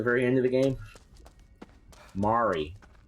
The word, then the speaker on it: Mari: Mari. Like, Mari Povich.